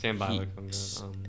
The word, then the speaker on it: Sambi Lokonga: Sambi Lokonga, I think that's how you pronounce it. Yes. Sambi Lokonga.